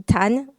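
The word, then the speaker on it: 談: gauche mais par exemple le mot qui veut dire parler qui se prononce aujourd'hui tan à l'époque en chinois ancien qui qui se prononçait dan Dam est composé de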